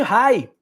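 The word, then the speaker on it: Reye: pode causar a chamada síndrome de Rai se escreve R e y e pode provocar colocar sangramentos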